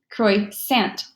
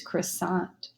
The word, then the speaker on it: croissant: pronounce it with an English pronunciation it's going to be Croix sent but we all know this comes from the French language its croissant and the last one